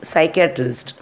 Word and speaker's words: psychiatrist: Next one is psychiatrist. Here also P is silent.